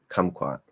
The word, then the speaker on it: kumquat: Because if I say kumquat, so you can hear that first K is strong because it's at the start of a stressed syllable. That's the strong K. K. The second K sound, which is spelled with the Q here, is at the start of an unstressed syllable, so it's not going to be strong. Quat, kumquat, quat.